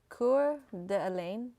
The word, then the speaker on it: Coeur d'Alene: We got garbage chicken in Coeur d'Alene.